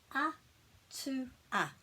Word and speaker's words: atua: So it's atua, atua, atua. And it's not atua because there isn't a macron over the A.